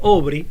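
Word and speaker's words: Aubrey: Sí, creo que John Obri, un historiador, se escribe Aurri, que decía, hablando de la época de John D.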